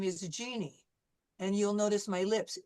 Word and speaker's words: Jeannie: And also the J is very different than what we usually use in English. Like, for example, my first name is Jeannie, and you'll notice my lips, Jeannie.